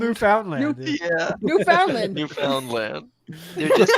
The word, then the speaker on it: Newfoundland: know this by now but the way he pronounces Newfoundland pisses me the off is it Newfoundland Newfoundland yeah Newfoundland Newfoundland you just found it I